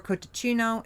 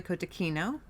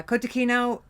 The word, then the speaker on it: cotechino: So you may have heard it pronounced before kotacino. It's actually kotakino. Um although it is sometimes even our Italian friends will say kotacino but um probably the American Italian friends, not the real Italian friends.